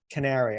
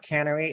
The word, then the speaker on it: Canary: the correct pronunciation of Canary okay it's not Cannery it's Canary carrying the coal mine okay Ryan go